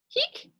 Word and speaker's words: hic: Esne insula hic? Here, hic? With a long I is hic, here. Hic with a short I means like this one or this man or this thing that's masculine.